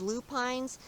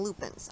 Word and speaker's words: lupine: Now some people pronounce these lupines, some people pronounce them lupins.